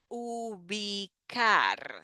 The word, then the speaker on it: ubicar: Ubicar. So in this case, the C has like a K sound.